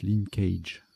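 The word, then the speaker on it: linckage: Bon, ça se prononce linkage.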